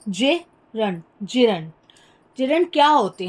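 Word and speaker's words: gerund: इसका प्रोनाउंसिएशन देखिए कैसे करते हैं, जिरंड, जिरंड।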